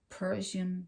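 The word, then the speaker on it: Prussian: r u SS i n i a n Persian blue I want to pronounce it right for you so you know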